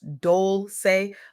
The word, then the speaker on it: Dolce: I'm Dolce, pronounced Dolce, like sweet softness whispered in French, and welcome to Soft